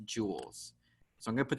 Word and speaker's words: joules: Remember, it's pronounced like jewel, like jewelry, but it's spelled like this, joules.